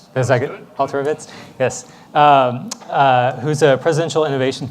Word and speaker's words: Alterovitz: Did I get Alterovitz?